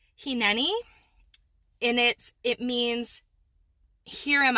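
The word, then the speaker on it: הִנֵּנִי: So it's a Hebrew word, and I believe it's pronounced hineni, and it means, here am I.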